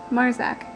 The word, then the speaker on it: Marczak: my name correctly, so I guess you better learn. M-A-R-C-Z-A-K, pronounced Marzak. Not that difficult.